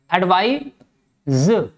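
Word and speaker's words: advise: एडवाइस, ये ध्यान रहे बेटा, एक वर्ड होता है एडवाइज और एक वर्ड होता है एडवाइस, ये स है, ठीक है। यहां पर सा प्रोनाउंसिएशन निकलेगा और यहां पर जा निकलेगा।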